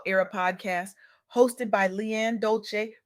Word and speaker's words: Dolce: Welcome back to the Soft Girl Era podcast hosted by Leanne Dolce, pronounced dol-say like sweet softness whispered in French.